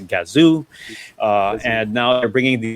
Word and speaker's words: Gazoo: with their kazoo race we now know how to pronounce and do it's a gazoo and now they're bringing